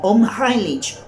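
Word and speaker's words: Unheimlich: donde los siniestro en el idioma alemán se pronuncia como omn highlitch que es un juego de palabras que al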